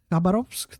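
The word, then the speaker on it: Khabarovsk: Kabarovsk. There we go. Exactly how you pronounce it.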